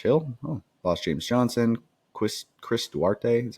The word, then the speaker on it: Duarte: They had lost George Hill, lost James Johnson, Chris Duarte, is how you say that.